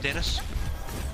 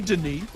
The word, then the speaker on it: Denis: It's actually Denis. No, well, he can spell it Denis then, right? Well, he does. That's how he spells it. He's just still French about it.